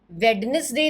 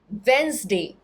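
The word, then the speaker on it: Wednesday: वेडनेसडे नहीं, वेंसडे, जहाँ D silent रहेगा, डी का उच्चारण नहीं होगा और एस नहीं, ज.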